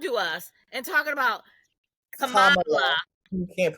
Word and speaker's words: Kamala: She said it's like Kamala. So Kamala.